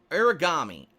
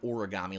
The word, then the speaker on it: Aragami: This one is from Aragami, excuse me, spelled with A-R-A, not origami, like the origami killer or anything like that.